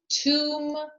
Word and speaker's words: tomb: in baby or rubber bu is silent when followed by um for example calm tomb or by t um as in subtle now let's get to